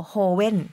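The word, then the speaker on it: joven: เคลียร์ น ส า ร ค ก่อ สร้าง สะกด คือ c r i a n z a นะ คะ ส่วน โฮเวน มา กิน อ้า ขอ ย้อน กลับ ไป คือ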